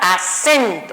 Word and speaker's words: acento: Entonces, por lo tanto, regresando aquí, yo digo acento. Si repito nuevamente la palabra, acento. Entonces, quiere decir que sen llevo esa tonalidad fuerte y para ubicarla según su posición expresaría última, penúltima, antepenúltima.